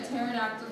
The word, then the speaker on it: pterodactyl: of them work okay why can't you hear a pterodactyl go to the bathroom the PE is silent spell so next up we